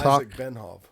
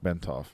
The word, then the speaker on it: Bentov: h a k b n t oh it's benof no it's HW bentov that's how you pronounce it um some people would like to